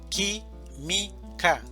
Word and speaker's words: química: Química, división silábica. Química. Sílaba tónica. Qui. Química.